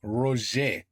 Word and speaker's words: Roger: C'est pas Roger. You don't pronounce the R, huh? Roger.